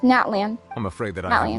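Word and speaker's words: Natlan: soon be heading to naton I presume naton that's not how it's pronounced Natan I'm afraid that I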